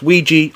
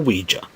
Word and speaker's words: Ouija: Ouija board commonly pronounced Ouija or Ouija a Ouija board is